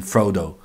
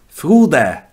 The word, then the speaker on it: Frode: In English, we have a tendency of calling him Frodo, because English-speaking people have a bit of an issue with Frode. You pronounce the E.